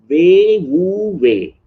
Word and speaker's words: Wei Wu Wei: That's how it is pronounced. Wei Wu Wei.